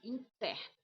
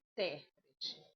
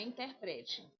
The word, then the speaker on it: intérprete: A a gente aí essa palavra você vai ler ela assim, ó. A interérprete. Inter inter int interérprete, tá? Não é interprete, é ó o o este acento ele é para você colocar força, tá?